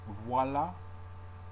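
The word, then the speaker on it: voilà: Voila. And there's a reason why the A is pronounced also because it has an accent on it.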